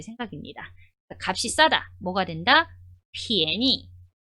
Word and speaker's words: 便宜: 便宜便宜 자, 발음 한번 볼게요.